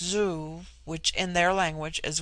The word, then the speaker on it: zu: On the other hand, z, when an initial, is with them a sound in which the breath is sucked inward, and thus zu, pronounced zoo, which in their language